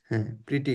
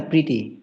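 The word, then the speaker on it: pretty: প্রিটি good. আবার মনে করেন যে খুব বেশি ধরেন একটু ঝামেলায় আছে বিভিন্ন সমস্যা হইতেছে তখন আমরা বলতে পারি জি উচ্চারণটা কি প্রেটি না প্রিটি প্রিটি প্রিটি good প্রিটি প্রিটি good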